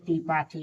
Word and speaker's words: त्रिपाठी: बना टी आर आई पी ए टी ए त्रिपाठी देखिए बना के ए ए वी आई टी